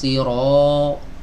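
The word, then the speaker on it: الصراط: bukan dengan menonjolkan nah Berapa banyak kita temukan di masyarakat yang membaca huruf ro itu diumumkan pada khalifah ihdinas sirotol Protol mustaqim tidak boleh di monyong kan dibuka ihdinas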